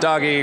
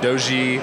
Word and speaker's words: Doge: and the Defcon Community you can pronounce it doggy pronounce it doy I like Doge um there there's a couple other pronun some people just say dog um okay so okay